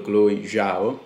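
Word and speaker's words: Chloé Zhao: visione di chloe già ho appena sentito la pronuncia su google chloe zhao dovrebbe essere che avevano apprezzato qualche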